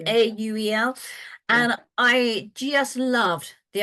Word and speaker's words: Auel: Yeah, so Clan of the Cave Bear, and I'm going to pronounce his surname wrong, but it's Jean M. Auel, I think is how you pronounce her surname, Auel.